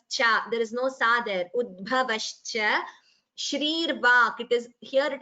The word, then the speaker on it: श्री: It is shri, not sri. In some languages, I think like Telugu, the sha is pronounced as sa or something like that. But in Sanskritam, it is sha.